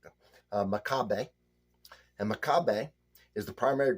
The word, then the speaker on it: Macabeu: Macabeu.